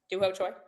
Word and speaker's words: Choi Doo-ho: Doo-ho Choi?